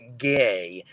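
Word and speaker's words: גא: So, so it's Gimmel LF and it's pronounced as gay.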